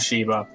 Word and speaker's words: Shiva: Shiva was easy because, you know, it's written and pronounced the same way as the god Shiva.